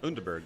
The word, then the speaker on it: Underberg: Unberg.